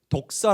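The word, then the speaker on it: δόξα: 있는데요 어떤 의미가 있냐면 이 영광을 헬라어로 독사 라고 합니다 외우기 쉽죠 우리 독사 본지 아시죠 헬라어로 독서 한데 그 뱀을 얘기하는게 아니라 발음이 독사 합니다 그래 이 독사 라는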